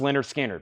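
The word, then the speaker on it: Lynyrd Skynyrd: sounded ones ever is this one right here pronounced Leonard skinnard once again this is cut this is about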